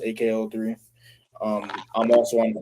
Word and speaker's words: EKE03: So if you want to go ahead and listen to my latest single "Summer Vibes" by EKE03, pronounced AKO3.